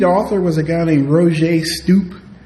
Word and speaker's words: Roger: Um and the lead author was a guy named Roier Stoop. It's spelled R O G E R but he pronounces it Roger and he'll get mad if you call him Roger.